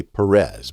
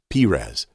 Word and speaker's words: Perez: faires requested by beatrice now pharah's is also the word that we often see as pires or some people say perez but the correct biblical pronunciation is pires now this was one